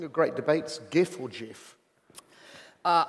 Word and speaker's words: GIF: GIF or GIF uh I know that it is supposed to be called GIF but uh I'm sorry that's something that you eat and uh GIF is how I've pronounced it since I was on the internet and uh you'll have to kill me to make me change and that's the right